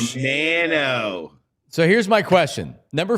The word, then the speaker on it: Romano: I guess it's how Canadians pronounce the name, and he's been very adamant about it's Romano, not Romano. Romano.